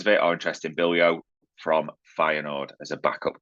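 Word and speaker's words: Bijlow: this wrong but Justin Bilo 26 as they're expecting Aaron ramsdale to depart now B Joo that's how it's pronounced was linked with Liverpool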